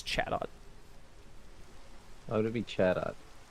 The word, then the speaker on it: Chatot: It's Chatot.